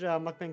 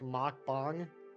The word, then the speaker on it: mukbang: considered a rom hack can't remember which language mukbang comes from is not pronounced like uh Muk bang it's more like mck bang I still don't like it mukbang I don't